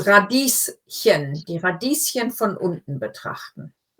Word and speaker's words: Radieschen: Radieschen. So this is one of those words where, when we're talking about something little, we often add the ending chen.